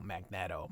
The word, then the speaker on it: Magneto: It's magnet with an O. Magnetto. Magnetto. If it was magneto, this would be a double E. Magn. And then to O. So, just cuz Stanley doesn't know how to pronounce things doesn't mean that we should continue to pronounce things incorrectly.